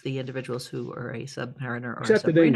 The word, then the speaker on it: submariner: Is it Submariner? Submariner. Submariner. As opposed to Submariner. Submariner. People see the word submariner and they pronounce it submariner, and that's not right.